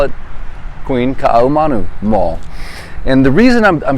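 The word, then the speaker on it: Kaʻahumanu: And today, guys, I'm coming to you live from the beautiful Queen Kaahumanu Mall.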